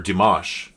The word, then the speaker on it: Dimash: Maybe Dimash will see this video and he'll be like, or Dimash, sorry, somebody had pointed that out to me. If I say D and then Mosh, I'll be closer to how to say it.